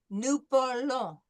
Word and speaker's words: parlons: Nous parlons. Anytime you see an O and an N, it's going to be nasal.